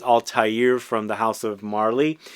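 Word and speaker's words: Altaïr: I always forget the way that's pronounced. It's Altaire from the house of Marly.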